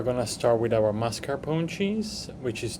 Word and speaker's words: mascarpone: to start with our Mascarpone cheese which is 2 and 1/4 cups of heavy cream and 1 and 1/2 teaspoon of lemon juice uh the r prononciation in Italian it's mascaron once we grab all